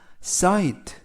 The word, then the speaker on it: sight: 이번 표현은 cite, cite, cite 라고 발음하시면 되겠고요. 이때 GH가 묵음이라서 발음이 되지 않습니다.